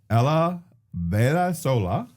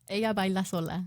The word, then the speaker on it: Ella baila sola: Ella baila sola. I was so Because they close. don't. There's no. The two L's are the Y sound.